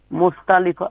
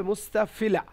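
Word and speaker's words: مستفلة: বাকি বর্ণগুলোকে বলা হয় মুস্তালিফা। মুস্তালিফা। ঠিকই আছে, শুধু এটা হবে মুস্তাফিলা, মুস্তাফিলা।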